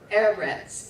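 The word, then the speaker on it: ארץ: or land is events air rats it is a segulate the accent is on the first syllable fruit free and see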